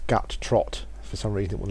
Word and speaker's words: Guttrot: This is Guttrot the Ogre Shaman, or actually it's Guttrot.